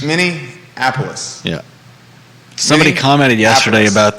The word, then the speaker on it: Minneapolis: you were saying that there's no n in the middle it's many apollos mini apollos yeah somebody commented yesterday